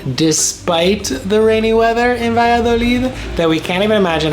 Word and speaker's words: Valladolid: and via the lead we are sorry we were pronouncing it wrong at the beginning of this video but we got it it's valladolid so don't come first